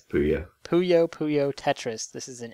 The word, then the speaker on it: Puyo: Yeah, it's Puyo.